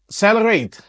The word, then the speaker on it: XLR8: PNY xlr8 gaming ini katanya bacanya celerate gaming pnyy ini Memang agak